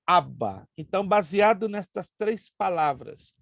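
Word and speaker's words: Abba: dizer papaizinho em hebraico papai aava tem quase a mesma pronúncia mas o aramaico se pronuncia aba então baseado nestas três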